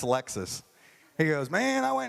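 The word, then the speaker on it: Lexus: was so excited he got this thing called a Lexicus. He couldn't pronounce Alexis.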